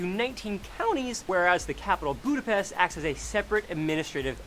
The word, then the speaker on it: Budapest: more of seget and in be the past it's not s it's ash so it's a budapest that would be the